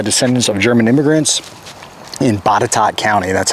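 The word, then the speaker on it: Botetourt: originally built by descendants of German immigrants in batat County that's how that's pronounced a log house built in the 1830s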